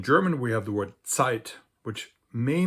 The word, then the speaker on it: Zeit: And in German, we have the word Zeit, which may not seem related to time or tid, but actually the sound ts used to be pronounced like a t, and the German letter